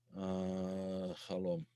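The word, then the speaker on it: חלום: Chalom. Yeah, the CH is usually pronounced cha in Hebrew for the chet.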